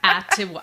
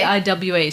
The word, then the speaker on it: Atiwa: No, Atiwa. I think that's how you say it. It's spelt Atiwa. Oh, okay. Atiwa.